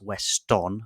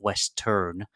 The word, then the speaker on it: Weston: thing to avoid in Western is spelling the name wrong uh first of all it's Weston not West turn Super super mayare the s in super is